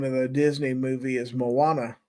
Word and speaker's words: Moana: He says Moana is how it's pronounced. Okay. Uh, now I know. Thank you for correcting me. Moz on what? Uh, the name of the Disney movie is Moana, not Mo.